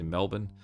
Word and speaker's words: Melbourne: at the way that, say, Americans may pronounce some Australian city names like Melbourne. Like they emphasize the vowels a lot more than we would, where we'd say Melbourne.